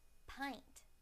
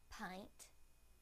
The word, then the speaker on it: pint: Now the I sound in the word pint. Pint, pint.